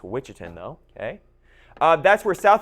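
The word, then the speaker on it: Ouachita: So the witchin that's how you pronounce that witchin. Okay. I know it looks to be outian. It's witchin though.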